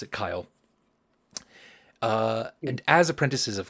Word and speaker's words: Kyl: KY L um but she prefers you to pronounce it Kyle uh and as apprentices of Kyle um on